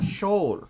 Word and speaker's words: Shoal: It's Shoal or Shoal. Shoal. Yes, that was what someone said to me. Yes, it's House Shoal.